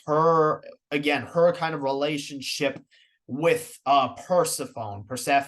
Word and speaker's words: Persephone: I've been saying it wrong the whole time. I've always been saying Persephone. Apparently it's Persephone.